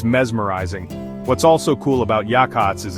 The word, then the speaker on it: Yachats: Pronounced Yachats, by the way, took me a minute to get that right.